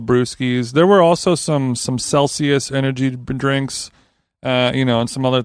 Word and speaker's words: Celsius: It's pronounced Celsius.